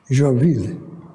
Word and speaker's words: Joinville: Tinha o mesmo nome, mas não tem nada a ver com a cidade de Joinville, pronunciada em português. Joinville.